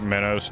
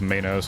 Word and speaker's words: Minos: have to beat like minnows to before I can start finding the other poets. I say Minnows. It's Minos, I think.